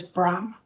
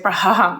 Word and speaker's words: Brahm: ham hame me um next word is bra so it's like bra and I just had an m to the end from the h is is silent like we don't say Braham or something like that it's just from me